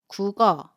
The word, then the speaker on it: 국어: So, you pronounce it as .